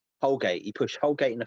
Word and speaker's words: Holgate: Is his name Holbert? I always get his name wrong. Holbert sounds wrong. Holgate.